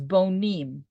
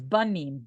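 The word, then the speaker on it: בונים: Something very interesting, in the Hebrew, the word builders is bonim. Okay. But it is spelled in Hebrew because of the vowel situation that it could also be read as banim.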